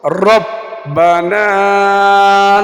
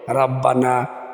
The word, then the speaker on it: রব্বানা: সামি আল্লাহু হামিদা এটা বলা শেষ হওয়ার পরে আমরা পড়বো রব্বানা লাকাল হামদ রব্বানা লাকাল হামদ অনেকে পড়ে রাব্বানা লাকালহামদ এরা বলে রা বলব না বলব রব্বানা হামদ হামদান হামদান কাসিবা